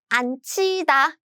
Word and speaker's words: 앉히다: So what happens is, these are combined as 츠. So the pronunciation is 앉히다.